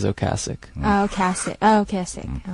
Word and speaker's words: Ocasek: Most Americans say Ocasek, though. Okasik? Yeah, but Rick says Ocasic.